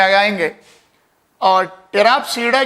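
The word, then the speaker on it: Pteropsida: और fourth one है, इसमें भी पी साइलेंट है, टेराप्सीडा।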